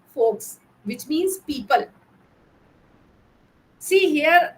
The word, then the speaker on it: Volks: The word folklore and folk media come from the German root word Volks, pronounced as folks, which means people.